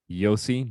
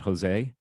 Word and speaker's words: Yossi: rabbis named joshua yehoshua yossi not jose and shimon so the